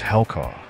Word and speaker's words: Helku: The pronunciation of Helku is Helkaw, which is ancient German